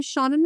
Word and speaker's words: Seanan: If you haven't heard my name pronounced before, just pretend you have a friend named Shawn, and you want him inside your house, and you'd say, "Let Shawn in."